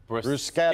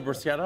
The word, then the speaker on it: bruschetta: In Italian, CH is always pronounced Oh, really? Okay. So this is pronounced Bruschetta.